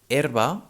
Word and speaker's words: herba: erba which means herp herba is spelled h e r b a here the strong syllable is the first one er erba and the second one ba is in a weak syllable it's a spell with a but sounds uh so we say erba we do not say er like this i